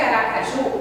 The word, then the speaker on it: Aracaju: Observe que Aracaju é uma palavra oxítona, porque a sílaba tônica é o ju, mas eu não vou acentuar.